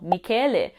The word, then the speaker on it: Michele: I was born in Australia and my Italian dad named me after my nonno, Michele. But in Australia, you just pronounce it Michelle.